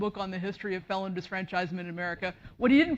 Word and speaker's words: disfranchisement: at the outset um you might think that I'm saying it wrong um many people today say felon disenfranchisement um you can say either one neither wrong historians people in the past said disfranchisement and since historians deal